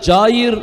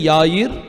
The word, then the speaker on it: Jair: மனிதனை குறித்து பார்க்க போறோம் இதை தமிழ்ல வந்து சொல்லுவாங்க ஆனா ஹிந்தியில யாயிர் அப்படின்னு சொல்லுவாங்க அப்படின்னு தான் சொல்லுவாங்க ஆங்கிலத்துல அதை ஜாயிர் அப்படின்னு சொல்லுவாங்க சோ இப்படி பல உச்சரிப்புகள் பல மொழிகள்ல இருக்குது பின்ன பின்ன பாஷா அலகு ஆனா எபிரேய மொழியில அவனுடைய பெயர் வந்து யாயிர் பாஷாம் யாயிர் சோ யாயிரும் அவனுடைய